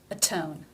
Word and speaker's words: atone: Even though in atone it comes between two vowel sounds, the first rule overrides it. Because it is beginning the stressed syllable, it is pronounced T as a real T.